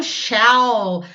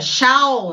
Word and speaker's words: shall: Legal, chegamos na terceira parte, que é o shall. Bom, pronúncia, shall, não shall, tá? Não é Shawn Mendes, nada disso não. É shall, tá? Né? Acostumem-se com essa pronúncia que é a correta.